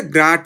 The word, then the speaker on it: grad: তো এটাকে আমরা মুখে উচ্চারণ করবো হচ্ছে গ্রাড ফাই।